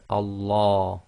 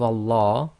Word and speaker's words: Allah: So the sound you're actually going to get on the Lam is La, as in the English word lamb.